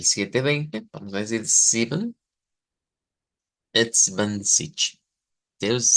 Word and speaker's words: zwanzig: ser un poquito diferente, sobre todo por esa G que creo que esto, ya habíamos visto este sonido de la cedila en la CH, pero aquí nos va a aparecer en una G que pues lo vuelve interesante, ¿verdad?